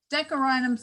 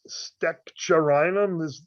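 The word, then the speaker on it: Steccherinum: Steccarinum's the way I learned to pronounce it. Well, there's Right. STEC and then a CH. So it's kind Yeah. of like Lexinum, but Steccharinum is the way that makes sense to me to say it.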